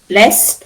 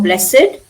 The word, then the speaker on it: blessed: Blessed or blessed, aged or aged, crooked, dogged, learned, ragged, wicked, wretched, wanted. Pronunciation is id.